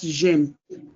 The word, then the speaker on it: j'aime: So it cannot be je aime. In the positive sentence, that's where that j'aime came from.